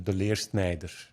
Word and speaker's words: Deleersnyder: So it's if it's done in Dutch, but in English it's Deleersnyder.